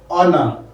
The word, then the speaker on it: honor: That's why we have honor, an honor, not a honor. So for those ones here, R, honor, hair, honest, the H sound is silent.